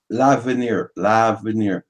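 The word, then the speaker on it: L'Avenir: So it's pronounced Lavalier or Lavalier? Lavenier. Veneer.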